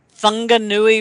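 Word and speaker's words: Whanganui: uh that is the fungi River and though I say it with an F it is spelled with a W and what what the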